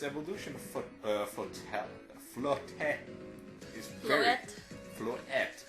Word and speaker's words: Floette: Flabebe is not really that interesting, but its evolution Floette is very Floette. It's there's no T. Floette. No, you don't pronounce it like that. I think it's supposed to be French.